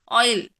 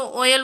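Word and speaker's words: oil: हैं ऑयल है ना कोई कोई लोग इसको ओयल बोलते हैं बट ऐसा नहीं होता जैसा प्रोनंसिएशन आपका अच्छा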